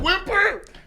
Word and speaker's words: whimper: There's no H in whimper. It's like whisper. Whimper. Whimper. What's the spelling of it? Spell it. WHIMPER. Good Lord. Maybe I'm a better speller than I think. I just Yeah. type fast. Yeah. This is crazy. There's an H, a silent H.